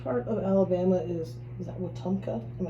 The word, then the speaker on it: Wetumpka: So which part of Alabama is that Wetumpka?